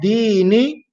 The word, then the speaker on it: دين: Then the word dini, dini, the first letter we have dal. Dal is pronounced using the top tip of the tongue.